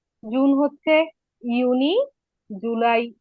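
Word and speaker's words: Juni: আবার আমি উচ্চারণ করে দেই, জানুয়ার, ফেব্রুয়ার, মার্চ, এপ্রিল, মাই, ইউনি, ইউলি, August, September, October, November, December.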